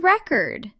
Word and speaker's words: record: Yes, the word record. If you say, I want to record a song, record is a verb, and the stress is on the second syllable.